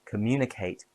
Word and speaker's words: communicate: expensive and communicate has four syllables stress on moo.